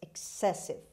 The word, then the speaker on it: excessive: six excessive excessive excessive as you can see again the stress is on c after x excessive means too much too